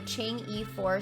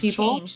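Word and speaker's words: Chang'e: it wasn't even oh it's changed not Chang e I'm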